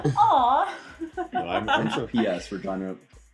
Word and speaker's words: Regina: Regina rhymes with fun.